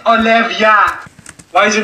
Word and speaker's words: Olivia: Sorry, Olevaya. What'd you say? Olevaya? It's Olivia.